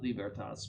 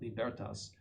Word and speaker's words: Libertas: 13th and his cyclical libertas and that's how you pronounce that the accent is on the second syllable not libertas but libertas describes the statological mentality of many modern people with these words.